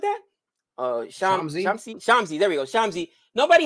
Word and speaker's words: Shamsi: Is it Shisami? Something like that? Shamsi.